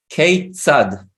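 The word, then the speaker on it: כיצד: Keitzad. Keitzad. It's like how. It's that. Keitzad. So KEI is pronounced K. K-sad. Yes. like- yeah. And And this TZ, FO. yeah, and this TZ is this letter tzadik.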